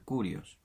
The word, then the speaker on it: Kyrios: Algunos escriben Kurios, otros escriben Kyrios con Y, que precisamente la I, que se pronuncia U en griego, es Y. Y si lo vamos a pronunciar como los griegos, tendría que ser Kurios. Y para evitar esa confusión,